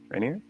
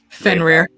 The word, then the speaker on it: Fenrir: Answer is Rainier? I cannot pronounce his name. Fenrir.